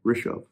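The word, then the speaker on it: Rishav: But the way to pronounce it is r i sh a v. Rishov.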